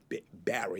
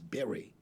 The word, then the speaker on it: Berry: I say his name is not Barry. His name is Berry, like a berry.